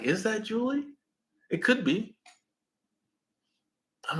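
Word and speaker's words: Ja'Leigh: Um, Her name is J A apostrophe Leigh. and it's pronounced Julie because I heard the announcer.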